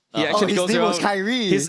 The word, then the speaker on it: Kyrie: was Kyrie. His name was K-Y-R-I-E. Yeah, remember? K-Y-R-I-E, pronounced Kyrie.